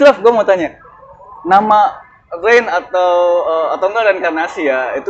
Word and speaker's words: Rein: Tapi intinya kalau misalnya gimana ya, sebenarnya kalau dibilang bacanya bukan Rain ya, tapi Rain. Rain. Karena itu diambil, kalau saya sendiri ambil potongan kata itu dari bahasa Jerman ya, artinya pure.